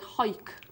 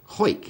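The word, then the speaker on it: Hawick: He likes to be called Hoik. Hoik, is that how you pronounce Haywick? That's how he likes it to be pronounced, Hoik. I actually thought Hoik was in that bit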